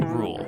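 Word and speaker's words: RVLE: The theme music for Bance is the track Time with You by Taliff, featuring Rule, that's spelled RVL E, and it's provided by No Copyright Sounds.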